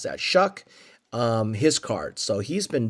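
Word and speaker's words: Shough: How do you pronounce that? Shuck, his card.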